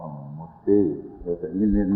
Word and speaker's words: Mosay: As my dad first came here, they call him Moose, but his name was Mosay.